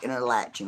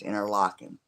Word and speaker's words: Interlachen: a little town called Interlachen well it's spelled in a latching it pronounced in her locking I know right but it's a little Country